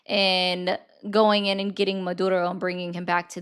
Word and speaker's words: Maduro: Why do you roll your Rs on that?